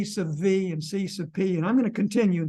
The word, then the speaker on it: Cp: a way to maintain your sanity how to pronounce C subp and C subv pronounce c subv as C